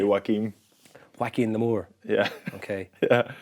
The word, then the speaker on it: Joaquin: Or Jacqueline? Oh, it's Joaquin. Joaquin. In Joaquin in Phoenix. D4. I think if you say Jordan Lamour, you say Joaquin.